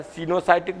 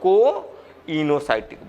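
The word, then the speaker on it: coenocytic: इसको दो शब्द बोल सकते हैं प्रोनाउंसिएशन में, सीनो भी बोल सकते हैं, कोइनोसाइटिक। तुमको जो बोलने में आ जाए, सिनोसाइटिक बोलो या कोइनोसाइटिक बोलो, ठीक।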